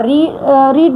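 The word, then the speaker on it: read: इसको रीड बोलते हैं, इसको रेड बोलते हैं, इसको रीड, ऑलरेडी रीड ही बोलते हैं इसको अगेन।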